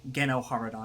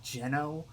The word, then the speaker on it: GenoHaradan: And it's from that I'm deriving the pronunciation GenoHaradan instead of like Geno.